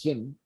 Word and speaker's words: Qin: I think it's called pronounced Shin.